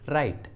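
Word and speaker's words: write: अगला एग्जाम्पल देखिए राइट, राइट, इस इंग्लिश वर्ड में भी डब्लू एकदम सामने में है और आर के पहले है, इसलिए यहाँ पर डब्लू साइलेंट है और इसका सही उच्चारण है राइट, राइट।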